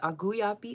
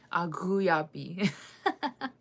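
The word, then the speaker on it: aǧúyapi: Uh bread is auyappi. Okay there's a there's a gut roll there. Let me practice. Auyapi auyappi means I like bread.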